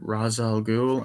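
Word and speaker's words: Ra's al Ghul: crazy fight scene and the mansion am i pronouncing this right razzel ghoul and he's fighting people left and right i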